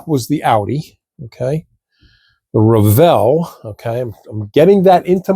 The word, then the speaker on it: Revell: the way you say Revell. Well, I was saying it Revel. They didn't like that, so I'm calling it Revell now. And I've since learned that that actually is the correct pronunciation, Revell.